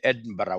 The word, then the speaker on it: Edinburgh: to the University of London I went the Edinburgh way the Edinburgh way ACC has also made arrangements with Edinburgh it's pronounced as Edinburg I would rather written as